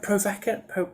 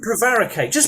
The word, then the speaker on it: prevaricate: Just how do you say that word? Provocate? Not Um, prevaricate.